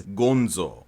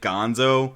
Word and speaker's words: Gonzo: name in Japanese is gonzo but you might see this written out in the way it's spelled go NZ and you might pronounce it Gonzo because you're so used to The Muppets but no it's Gonzo